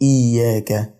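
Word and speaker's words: إياك: حرفين مش حرف واحد طيب ازاي بقول اياك اياك لو خدت بالك انا تقلت شويه على حرف الياء اظهرتو شويه شددته شديته كانه حرفين فهو اياك ماقولش اياك اياك اياك انا كده نطقت الشده صح واديت الحرف حقه في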